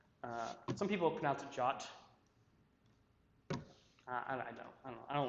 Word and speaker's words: JWT: or something that don't this one it's pronounced jot that's that what a